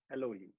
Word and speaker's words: Elohim: That means that when you pronounce it, you don't say Elohim or Elohim, it's eh. It's a very short E, Elohim.